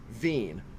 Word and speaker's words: Wien: Actually, if you pronounce it in in German, the W takes the V sound. Therefore, it's a vener. Um, which sounds like Vienna because that's where the whole word wener comes from from Vienna, Austria. Vienna and do in German is spelled w i n vin. Therefore, a sausage from vin is a vener.